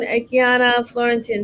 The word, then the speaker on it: Akiana Fleurantin: Good afternoon, Akana Florentin. How are you? Good afternoon. Hi, Denise. Am I pronouncing your name correctly? Yes, you're doing perfect. Aiana Florence.